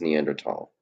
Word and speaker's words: Neanderthal: The correct pronunciation, I believe, is Neanderthal. The T.